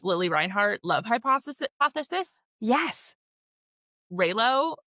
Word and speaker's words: Reylo: Reylo, I think it's how you say it, like Rey and Kylo Ren from Star Wars fan fiction.